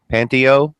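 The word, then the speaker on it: Panteao: on the YouTube sizes I always say it wrong it's panty panty Oh panty Oh productions does the 90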